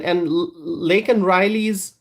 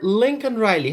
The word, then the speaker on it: Laken Riley: And Joe Biden called her Lincoln Riley. How could he do that? And so there are serious questions about Joe Biden's fitness for office. And the fact that he mispronounced the name of Laken Riley raises further questions about